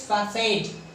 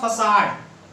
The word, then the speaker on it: facade: आपने सुना होगा फसाड। इस वर्ड को कुछ लोग फसाड कहते हैं, फसाड। ये आम बोलचाल में ज्यादातर लोग इसे इंग्लिश सीखते वक्त फसाड कहते हैं, FICAD, फसाड। But it is not its correct pronunciation.